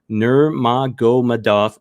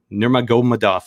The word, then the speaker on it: Nurmagomedov: obviously the big news of that is khabib nurmagomedov i'm still learning how to pronounce that name but i will get better uh uh nurmagomedov a little bit better anyways announce his retirement